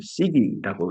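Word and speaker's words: SiGe: 일본 사람들은 시계라고 했어요. 그래서 나는 진짜 손목시계 그 시계인 줄 알았어요. 학교 가서 듣다가 시계가 갑자기 워치인가 이랬죠. 실리콘 절메니움을 시기라고 읽는데요.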